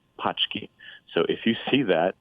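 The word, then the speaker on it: pączki: the a that translates to boxes which is pronounced pki so if you see that you're not buying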